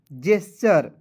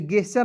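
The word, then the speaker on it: gesture: जेस्चर जेस्चर कैसे? जी ई तो इसे गेस्चर नहीं पढ़ेंगे। इसे पढ़ेंगे जेस्चर। जी ई का उच्चारण ज के रूप में।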